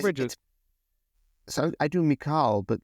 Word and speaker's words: Mikal: It's Mikal Bridges. So I do Mikal, but like Michael.